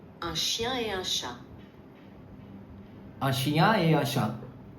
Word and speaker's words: un chat: Here you will not pronounce T with eta. You will not say eta. It is un chat.